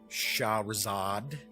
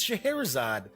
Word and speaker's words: Scheherazade: Arabian Nights know the story of Shahrzad Scheherazade dammit that's it it's Scheherazade stupid Jeff I'm standing here or sitting here and I keep pronouncing it wrong ah oh man yeah